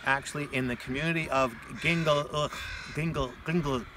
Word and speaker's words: Gingolx: I'm here today with Chris Stanley, and we're actually in the community of Gingolx, how do you say it?